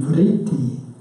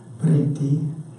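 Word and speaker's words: वृत्ति: Starting the talk with the term vritti, which is easier to spell than to pronounce. Vritti.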